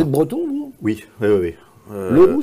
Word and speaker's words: Le Roux: Leroux, c'est breton. Ah oui, oui, parce que ça s'écrit en deux mots. En un seul mot, c'est français. Ah oui. Et en deux mots, c'est breton.